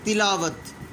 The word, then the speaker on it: تلاوت: یہ تمام کے تمام الفاظ کا تلفظ غلط ہے. جو صحیح ہے وہ آپ کو بتا دیا گیا. تلاوت، پہلے کے نیچے زیر، دوسرے کے اوپر زبر،